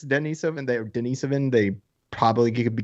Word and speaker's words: Denisovan: denisovan perhaps uh right but we were saying it wrong and so are other people but it's it's russian so you put the emphasis on the east like denisovan denison right dennis give